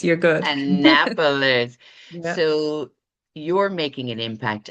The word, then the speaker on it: Annapolis: but she now lives in, you'll have to pronounce this properly for me, an Annapapolis, Maryland, USA. Is that correct, Allison? Annapapolis. You're good. Annapolis.